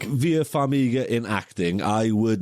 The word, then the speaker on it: Vera Farmiga: Vera Farmiga.